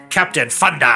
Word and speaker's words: Captain Funder: This guy's called Captain Thunder, but spelt with an F. So I didn't say that in a stupid way. For anybody out there, it's like this guy can't pronounce his THs.